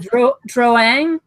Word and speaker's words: Drouin: Is there a correct way to pronounce that, Emma? Oh, is it Drouin?